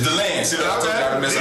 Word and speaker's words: DeLand: It's DeLand.